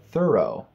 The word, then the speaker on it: thorough: am confused now did I say it right thorough yes why do I you say throughout I